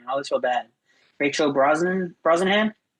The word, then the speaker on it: Brosnahan: Rachel Brosnahan. Brosnahan.